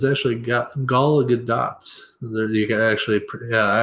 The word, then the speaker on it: Gal Gadot: Which apparently her name is actually pronounced Gal Gadot. Gal Gadot, like in Gal, I'm so her native sorry.